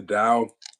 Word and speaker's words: Tao: easier okay but yeah the Dow Hing it's it's spelled ta a tao yeah I just looked